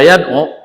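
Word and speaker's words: يدعو: Jadi bacanya yadu. Wya jangan dikasih harakat. Kalau dikasih harakat salah. Yadu enggak boleh karena berat.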